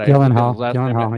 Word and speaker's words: Gyllenhaal: I can't pronounce his like Gyllenhaal or. yeah. I mean, oh my God. Gyllenhaal, yeah. Gyllenhaal, they say it two different ways, yeah.